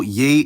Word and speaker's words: ei: Getting more into the details, one minor thing to know is that there are several pronouns starting with e, but don't get fooled, they actually start with ye, like eu, ye, and ya.